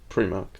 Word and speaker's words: Primark: in it yeah right um how do you pronounce premark premark what p r i space Mark or Prim Mark Primark prar correct like before Mark like pre prear